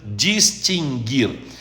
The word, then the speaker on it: distinguir: Então, o Conselho Administrativo extinguirá, aliás, o verbo é extinguir, não é extinguir, nem distinguir, nem adquirir. O U não se pronuncia. Extinguir, adquirir, distinguir.